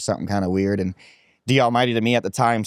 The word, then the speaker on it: D Almighty: And the name I chose was D Almighty. It's spelled DALLMYD, otherwise known as Scuba Jake now too. But D Almighty means like the Almighty.